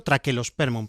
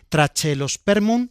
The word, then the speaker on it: Trachelospermum: Correctamente habría que decirlo traquelospermun, pero yo pronuncio la che. trachelospermun jazminoides y apellido de jazminoides te dice que es a la manera del jazmín.